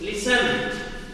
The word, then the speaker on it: listen: listen to the word, pronounce what is, listen. Yes, here's the T is silent.